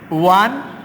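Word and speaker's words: one: দেখো আমরা এখানে লিখেছি আই স এ ওয়ান eyed man. এখানে যে ওয়ানের ও উচ্চারণটা, এই ওটার উচ্চারণ কিন্তু ওয়ার মতো হয়েছে, বিদায় আমরা এখানে এন ব্যবহার না করে এ ব্যবহার করেছি।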